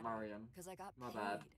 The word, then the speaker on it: Marian: Wait, before we go, we need to know, why were you controlling Marian? Marian, not Marian. Because I got my bad. I've been pronouncing it wrong.